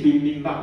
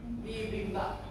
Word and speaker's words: bibimbap: Bibimbap. Yeah. Okay. So Jiseng said correct. This is bibimbap.